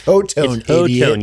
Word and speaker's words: Hotone: And Hotone. That's how you say it. It's not Hot One.